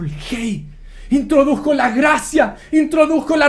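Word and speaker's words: ה: Se pronuncia Hei.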